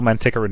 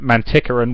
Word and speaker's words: Manticoran: reason she's narrating it, she keeps pronouncing it Manticoran, whereas he intended it to be Manticoran, is that there was